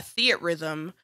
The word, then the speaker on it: Theatrhythm: just looked it up it says hazama says uh theat rhythm with a hard stop after the T to separate it into two words Rhythm rhythm beat rhythm